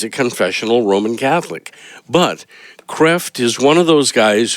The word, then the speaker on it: Kreeft: It looks like his name is pronounced Kreeft, but he's a Dutchman, and I think the correct pronunciation is Kreft.